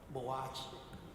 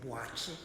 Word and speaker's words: Boakye: Boakye, because that's not the correct pronunciation for his name. The correct pronunciation for his name is Boakye.